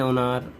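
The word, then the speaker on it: honor: যেমন অ্যান অনার, an honest man. এইচটা উচ্চারণ হচ্ছে না, এইচটা সাইলেন্ট থাকছে।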